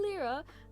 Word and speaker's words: lira: And it's not in lira, which is the Turkish currency, by the way.